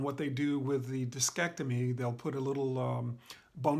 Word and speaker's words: discectomy: Um, um, Discectomy, or discectomy is how it's pronounced, has to do with taking care of